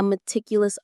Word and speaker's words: meticulous: It's like being a meticulous artist, painting every single leaf on every tree in a giant forest. Let's look at that word meticulous. Meticulus. Meticulous. The stress is on the second syllable.